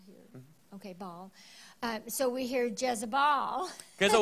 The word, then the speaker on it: Baal: Baal, you gotta pronounce it Baal here. Okay, Baal.